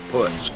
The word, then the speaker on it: Putz: It's Putz. Kyle Putz. That's what he told me. He said everybody calls me Putz.